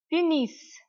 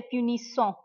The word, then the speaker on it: punissent: or il or elle punissent, punissent. The ENT of the verb, it is always silent. We never pronounce it. Punissent. You will not say punissons.